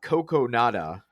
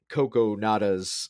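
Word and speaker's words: Kogonada: by the director and i i had to phonetically uh write out how to say his his name but uh coco nada um so he uh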